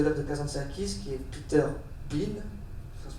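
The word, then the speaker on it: Peter Bien: grands critiques de l'œuvre de Kazanakis qui est Peter Bein, ça se prononce comme ça c'est ça Peter Bean, ils ont exagéré l'importance de cette influence.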